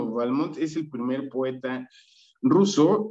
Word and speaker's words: Balmont: Esto es porque, según estuve investigando, el padre de su padre, de Balmont, decía que tenía que acentuarse en la primera letra, es decir, él pronunciaba Balmont, pero después su primera esposa de Balmont, ella dijo, se debe decir Balmont.